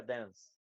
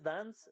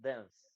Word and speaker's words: dance: Así se escribe, se pronuncia dance. No es dance, es dance. Entre la a y la e.